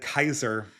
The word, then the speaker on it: Caesar: or a hard sea I'm pretty sure it's a a soft sea yeah but in the original pronunciation it is a hard sea well the Romans would have said Kaiser yeah but you know